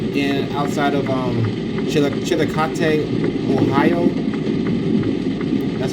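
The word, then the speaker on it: Chillicothe: We were heading down there for conclave and we were on interstate 71 south in outside of um chil chilate Ohio that's how you pronounce it.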